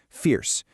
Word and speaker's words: fierce: Pay close attention to the vowel sound, fierce.